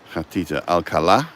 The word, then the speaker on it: Alcalá: A is an H alala with the accent on the A and Gia or G